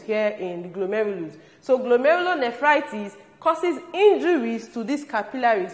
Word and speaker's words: glomerulonephritis: They include glomerulonephritis, kidney stones, diuresis, edema, and kidney failure.